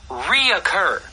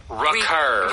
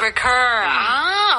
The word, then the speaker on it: recur: In fact, native speakers will sometimes mispronounce this word and say reoccur but reoccur that is so true isn't a word. You say recur. Recur.